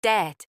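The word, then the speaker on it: debt: It's pronounced Wednesday, pronouncing det with a B. The B is silent. It's just det, saying etc.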